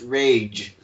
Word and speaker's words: Reg: Today, I was reminded that it is actually pronounced Rage, which I think Rage.